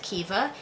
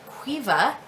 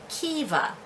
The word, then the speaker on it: Caoimhe: And again, this is a dialect thing with Kiva. In much of Ireland, it's pronounced Cuiva, Cuiva, and usually in the northern parts, it is Kiva, and we do say Kiva.